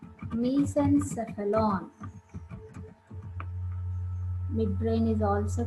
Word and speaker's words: mesencephalon: No, just please listen my pronunciation. Prosencephalon, mesencephalon, rhombencephalon.